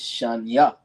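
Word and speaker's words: שניים: Now going into that, putting it all together is shanya. Okay, that's the correct way to pronounce it.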